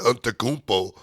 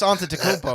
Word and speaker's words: Antetokounmpo: But Yuri, you have no problem saying the Antetokounmpo.